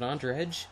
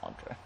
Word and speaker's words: Andre: Is it Andredge? No, it's Andre.